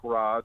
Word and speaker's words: garage: yes, it turns out I'm one of the few people in the world that say garage with one syllable. Most people say it with two syllables.